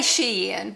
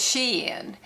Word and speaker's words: Shein: first got started we all called it Sheen uh you know we do hauls and stuff from Sheen now my granddaughter say no it's Sheen so if I I say Sheen so if I say it wrong I am sorry cuz my granddaughter all five of them correct me and say no it is Sheen so I still sh say Sheen so I got some